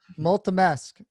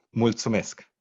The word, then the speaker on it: mulțumesc: Multimesc. Did I say it right? No. Finally. Thank you so much. It's mulțumesc.